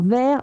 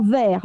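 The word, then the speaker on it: vair: pourquoi cette confusion donc le mot vert v et vert ve se prononcent de la même façon, il pense que c'est une erreur de traduction.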